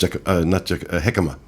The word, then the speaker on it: jicama: How's it pronounced? Jicama.